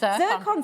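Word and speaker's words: zircon: How do you pronounce that? Ziron.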